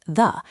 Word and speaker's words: ye: in the US named ye old coffee parlor. In archaic English, the letter Y was used to represent the th sound, so it was always meant to be pronounced 'the'.